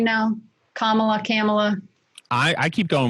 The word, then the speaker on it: Kamala: pronounce her name now kamala kamala i i keep going with camelot because i was told it was like pamela except with the kids